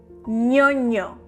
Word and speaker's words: ñoño: ñoño.